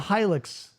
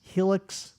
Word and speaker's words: Hilux: I got two Toyota Hilux commercials. Hilux, Helix, however you want to pronounce it.